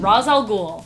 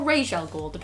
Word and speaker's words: Ra's al Ghul: that one number five Ra's al Ghul or Rachelle Gould on how you want to say it like Batman Ra's al